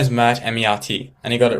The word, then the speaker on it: Mert: Yeah, I just said my name is Matt M. and he got it right. Okay. All right. In the English sense. If Jake is watching this, I'm sorry. You pronounced my name wrong.